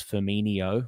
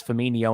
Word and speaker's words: Firmino: with a ch, and then he was also pronouncing Firmino as Firmino, which is just a classic error that always gets done. And then they said Coutinho. So it's Firmino and Coutinho back in the day.